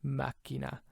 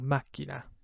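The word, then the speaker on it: macchina: its k sound so machina and remember that c is doubled so you hold it out twice as long makina look at that second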